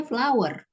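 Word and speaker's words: flour: Kayak cara membaca tepung aja kan cara membacanya flower, bunga.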